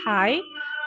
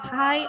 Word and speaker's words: high: be pronounced hike or hus but the correct pronunciation is high and highest.